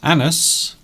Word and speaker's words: annus: Yes, annus. That is how you pronounce it, by the way.